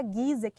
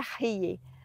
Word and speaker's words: Ghieh: Se a gente fosse pronunciar na língua árabe, seria Rie, mas abrasileirando fica, fica um pouquinho mais fácil.